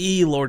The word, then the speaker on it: Blord: And he did actually clarify very distinctly, Lord is how you pronounce it.